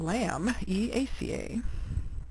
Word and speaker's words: Lamiaceae: The lamb eaca, otherwise known as the mint family, phonetically spelled lamb eaca.